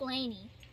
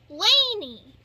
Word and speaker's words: Lani: i think little blessings it sounds like laney i don't know l.a and i i don't know but laney you know like as